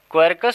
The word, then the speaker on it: Quercus: ठीक है, क्वेरकस सुबर, इसका स्पेलिंग है QUERCUS, क्वेरकस सुबर।